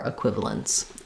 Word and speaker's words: equivalence: So, there's no there's no t in equivalence, but it's equivalent to how we would say plants where we don't really say the t there either.